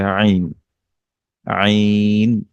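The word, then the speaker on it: عين: আর এখানে আমরা দেখতে পাচ্ছি যে আইন, এটা কণ্ঠনালীর মাঝখান থেকে উচ্চারিত হয়।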